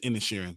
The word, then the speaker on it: Inisherin: Because I was like Inisherin, I think they were pronouncing it. I thought it's Inisherin. It is Inisherin.